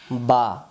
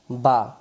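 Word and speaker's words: ب: এই অক্ষরের নাম হল বা। এই অক্ষরের নাম বা।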